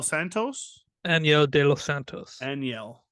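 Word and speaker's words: Enyel: Aniel. There you go. That's how you say it.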